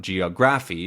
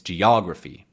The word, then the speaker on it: geography: stress syllable geography geography it's the second one right ography it's not geography or geography or geography it's geography let's go on to tablet